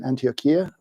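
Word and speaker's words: Antioquia: interesting and unusual variety uh found mostly in antiochia is that my pronunciation correct Ania thank you uh in Colombia where this Farm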